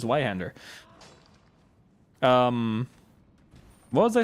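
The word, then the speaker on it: Zweihänder: I do think it's funny how English people always pronounce it as a Zweihander. I did it as well just now because I'm used to it, but it's like, it's a German word. It's zwei. It's with a Z, with a TS, I guess.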